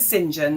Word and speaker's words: St John: Is it Do you pronounce your surname St. John or Singen? Okay. So, we're pronouncing Singen.